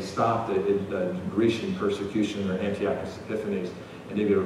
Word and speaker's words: Antiochus: I've heard it pronounced Antiochus different ways. I call it Antiochus Epiphanes.